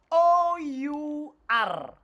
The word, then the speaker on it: our: O-U-R. How do we pronounce it? I said swallow the sound R. So this one is our.